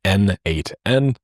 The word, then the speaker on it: n8n: It was written by the creator himself and he says that it means nodemation and it is pronounced as N8N.